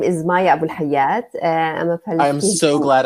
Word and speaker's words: Abu Alhayat: Hi how are you my name is Maya Abul haad I'm a I'm so glad I didn't try to pronounce that welcome thank you actually in Arabic